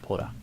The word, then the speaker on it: Pota: I like that, Poda. And that should be before this. Pota, person, comma, human, from Protopota, and it's pronounced Poda.